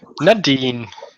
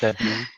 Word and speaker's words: Nadine: Nadine, am I pronouncing that right at least? Yes. Nadine.